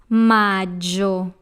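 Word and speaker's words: maggio: the letter AI therefore it will have a J sound like in the word Juliet so that's my jaw next we have Junio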